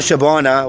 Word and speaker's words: Shabana: Not Shabana, what rhymes with banana.